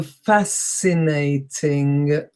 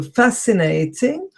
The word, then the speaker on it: fascinating: that fascinating is again SC I but it's pronounced see so fascinating ok I think I can put it there and by that way we have it in the same group here ok so fascinating whereby we have the SC is C and